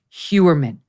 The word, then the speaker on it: Heuermann: I know hold on a second h-e-u-e-r-m-a-n-n Rex huerman all right now Rex human worked as a